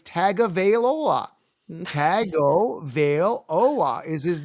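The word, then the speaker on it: Tagovailoa: t-o-u-n-g oh well it's just Heritage no it's tagavailola tago Veil Ola is his name anyone says Tonga vailoa is is well I don't want to curse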